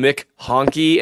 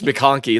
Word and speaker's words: McConkey: Oh man, someone called him Mick Honky, and it's all I can hear now every time I say his name. It's McConkey.